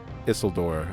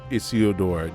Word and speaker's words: Isildur: That is why the One Ring was taken by Isildur or Isildur, depending on how you pronounce it, is because when his father Elendil